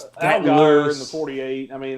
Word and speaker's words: Allgaier: How about Justin Algier? Algier? How do you say it? Algier? Justin Allgaier.